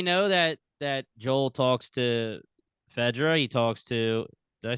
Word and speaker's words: FEDRA: I mean, we know that Joel talks to Fedra. He talks to. Did I say it right? Fedra, right? Yeah, Fedra.